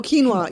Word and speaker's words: quinoa: I don't even quite know how to pronounce this. Quinoa? Quinoa? oh, quinoa.